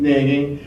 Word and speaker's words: Nagy: How do you pronounce his last name? Nagy, who is a long-time Downriver resident.